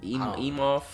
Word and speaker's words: Emhoff: First Lady Jill Biden and First Gentleman Doug Emhoff. I don't know that Emhoff.